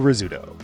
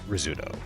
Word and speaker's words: Rizzuto: Shortstop, Phil Rizzuto. This is sort of like Pérez. Even though Americans clearly should know that the double Z in Italian words is a TS sound, like pizza, this became Rizzuto.